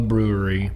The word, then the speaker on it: Bruery: It's an Imperial Stout, so it's called The Brewery, but it's spelled Bruery. And they're from, you ready for this?